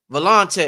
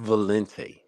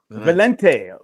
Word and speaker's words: Valente: this brother right here valante what up bro big smile what's up valante man good evening everyone it's pronounced Valente Valente Valente is it Spanish or French it's actually Italian it's Italian foot ital